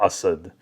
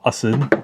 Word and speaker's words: Asad: on the map was none other than Latafa Assad. That's right. It's actually pronounced Latafa Asid.